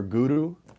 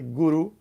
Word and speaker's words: guru: Channelforgrace.guru, or guru, if you pronounce it properly, guru.